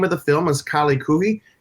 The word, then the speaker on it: Kaali Khuhi: And for those of you who are just listening and not watching it, the name of the film is Kaali Khuhi. It's spelled Kaali, and then the second word is Khuhi.